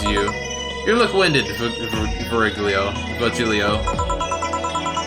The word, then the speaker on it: Virgilio: You look winded, Virgilio. It's pronounced Vihirio.